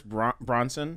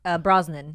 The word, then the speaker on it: Brosnan: want to call it you said Pierce Bronson yeah that's a that's absolutely not as that's not right brah Brosnan Brosnan yeah yeah how do you